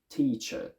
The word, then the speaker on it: teacher: of the schwa sound my personal one is very strict and pure i only ever say uh i say teacher teacher some other accents more